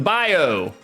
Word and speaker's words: bayou: The bayou. The bio. Like, I was born in Louisiana. That's how they say it in Louisiana.